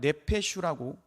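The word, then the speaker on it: נפש: 여기서 말하는 영혼이라고 하는 것은 이 히브리어로 보면 네페슈라고 읽습니다.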